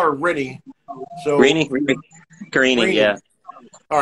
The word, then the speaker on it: Karine: So Karine, yeah. All right, but it's Karine.